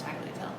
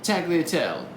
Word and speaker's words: tagliatelle: homemade taco tail homeless how do you actually pronounce tackle tail tagliatelle now thanks you're the